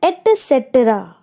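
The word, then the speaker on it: et cetera: ठीक है, उसका प्रोनाउंसिएशन ध्यान में रखना है एटसेट्रा.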